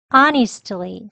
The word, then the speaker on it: honestly: Honestly 또는 honestly 예, 여기를 니 약형으로 honestly라고도 발음을 합니다. 그리고 끝부분을 보시면요. 이 트 소리를 아예 하지 않고요. Honestly 예, 여기죠? 쉬어 발음 약하게 발음합니다.